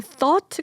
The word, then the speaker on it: thought: 예를 들면 thought 같은 경우 그냥 어하고 똑같아요. 소리가.